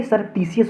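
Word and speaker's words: surreptitious: माध्यम से क्योंकि ये सरपिटीसियस वर्ड इसका प्रोनन्सिएशन सबसे पहले तो सरपटीसियस होता और इसमें सबसे ज्यादा पूछे जाते हैं स्पेलिंग एरर में।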